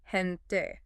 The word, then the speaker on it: gente: Those can get aspirated, meaning they're pronounced with a breathy sound. So, how does that change things? Major becomes mayhal and gente becomes hente. It's like they're adding a little puff of air to those sounds.